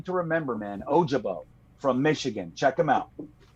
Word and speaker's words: Ojabo: guy a jo uh ojabo is how it's said and he's uh uh